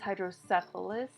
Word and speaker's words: hydrocephalus: It's hydrocephalus, not syphilis, okay?